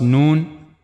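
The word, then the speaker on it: ن: First one was known. The origin of letter known is tip of the tongue and it will go connect to gum of the two top front teeth here.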